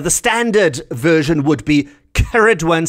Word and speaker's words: Ceridwen: The standard version would be Ceridwen, C-E-R-I-D-W-E-N, Ceridwen. And it's also spelled with a double R occasionally as well, C-E-R-R-I-D-W-E-N.